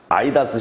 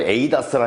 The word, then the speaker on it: ADAS: 근데 이제 그 해외에서는 보통 이 A자를 그냥 발음해서 A라고 한답니다. 에이다스라 하고, 우리나라에서는 이제 A자가 아 발음이 발생을 하니까 아이다스라고 이야기를 합니다.